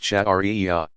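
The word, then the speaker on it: sharia: and interpretation is called sherry a pronounced chat aria the divinely revealed law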